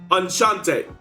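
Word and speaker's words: Enchanté: Enchante. Right. CH sounds are pronounced more like SH sounds.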